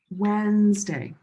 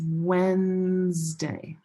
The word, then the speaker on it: Wednesday: Wednesday. Wednesday. The D and the E here are silent. It's Wednesday.